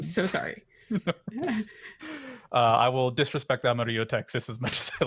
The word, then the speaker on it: Amarillo: Like, I just like making fun of Amarillo because nobody in Texas pronounces it correctly, and if I say that, everybody in Texas will say No, we do no.